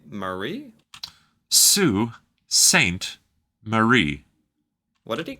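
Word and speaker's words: Sault Ste. Marie: a quick edit there it's pronounced Sue not salt or Saul or anything else you might think it's Sue so Sue Saint Marie oh Sweetgrass Montana and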